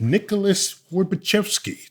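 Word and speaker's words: Nicholas Horbaczewski: And so we had to bring in the person who is responsible for this fact, named Nicholas Worbachevsky. Did I pronounce that right, Nicholas?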